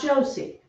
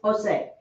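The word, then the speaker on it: José: the last one jays the letter j quota always sounds like an h so you do have the h sound in spanish it's just written as a letter j because okay that is jose that is jose it's not josie right it's jose and juan i said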